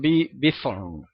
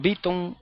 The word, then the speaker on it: Bithorn: mayoría de los puertorriqueños, la incapacidad de ellos en pronunciar la TH como la pronuncian los norteamericanos. Y allá para los norteamericanos lo correcto es decir Irán Bithorn. Para los puertorriqueños da igual decir Irán Beaton que Irán Bison.